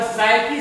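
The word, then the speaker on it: psyche: ये Greek word साइकी से लिया गया है। साइकी का स्पेलिंग होता है पी एस।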